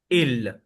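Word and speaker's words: ils: इफ ऑल are mail then we will say इल last S will not be pronounced the pronunciation for this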